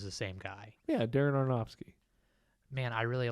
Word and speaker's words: Aronofsky: uh 2000 film by Darren arfanovsky I don't think that's how it's pronounced no I always up it's arnops here arnopsky yeah they're an arnofsky I was [ __